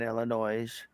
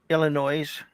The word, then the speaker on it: Illinois: visiting my dad in Illinois and they made it there safe what's that word again Illinois Illinois the S is silent I'm from Michigan it's